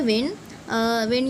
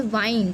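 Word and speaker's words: wind: Next है विंड यानी एयर होता है, वी ऑल नो, बट दूसरा प्रोनाउंसिएशन जो है वो है वाइंड। स्पेलिंग यही है, भूल मत जाना, स्पेलिंग सबका सेम है। दूसरा प्रोनाउंसिएशन है वाइंड।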